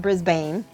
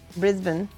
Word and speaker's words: Brisbane: it's so and then you say Brisbane not Brisbane Brisbane Canberra not Canberra Canberra a dingo H up